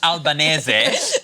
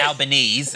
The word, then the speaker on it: Albanese: It's pronounced Albanese, not Albanese, as Barnaby Joyce says it.